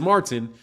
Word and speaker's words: Martin: no it's Martin so I literally have to say my name with a T I have to overdo the T Martin Oh Martin and